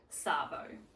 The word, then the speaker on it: arvo: You'll notice that the word this and Arvo sort of end up sounding like they almost go together. So Arvo sometimes sounds like Savo, and people sometimes will say it like that, Savo. So you'll either hear Arvo or Savo.